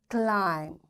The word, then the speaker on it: climb: B will be silent we will say com tomb bomb thumb climb and lamb in all these words you can see B is silent.